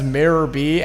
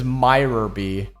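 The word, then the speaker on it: Miror B.: My brain has autocorrected his name as Mirrorb and I just never questioned it. But no, it turns out his name the correct pronunciation is Myerby, not Mirrorby.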